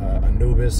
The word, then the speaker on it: Anubis: language that predated but Anubis is the Greek way to pronounce the name which everybody is familiar by ample or Anubis goes back you get